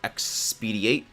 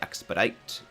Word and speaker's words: expedite: we just you know expediate i know it's pronouncing it wrong it's really expedite uh the process ah